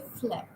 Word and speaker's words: phlegm: For example, phlegm. G is silent. You just say phlegm.